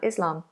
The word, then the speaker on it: Islam: So it's a nice open vowel sound. Islam. Islam.